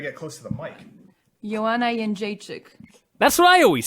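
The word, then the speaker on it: Joanna Jędrzejczyk: Yana yik.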